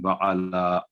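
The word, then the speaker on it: وَعَلَى: दूसरे नंबर पे वला आलि मुहम्मद नहीं होगा, बल्कि व अला, आइन पर जबर है आपके सामने और लाम पर खड़ी जबर है, व अला मुहम्मदिन व अला, मीम पर 2 सेकंड गुना होगा, मुहम्मदिन व अला, ये है इसका तलफ्फुज़।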